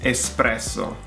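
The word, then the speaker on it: espresso: And again, there's no X in there. It's «эспрессо».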